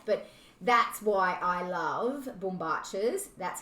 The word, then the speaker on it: bombachas: probably see that but that's why i love bumbaches that's how you pronounce it but don't worry if you can't